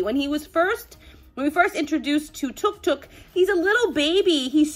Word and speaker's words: Tuk Tuk: Tuk Tuk. It's actually pronounced Tuk Tuk, and I said Tuk Tuk in the original video, and now my children won't stop correcting me.